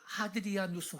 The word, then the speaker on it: 하드리아누스: 주후 2세기의 로마 황제 하드리안, 라틴어 발음으로 하드리아누스 황제였습니다.